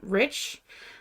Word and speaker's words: Reich: Because we grew up pronouncing our name Rich. Because of the Nazis. Our family changed the pronunciation around 1945-ish.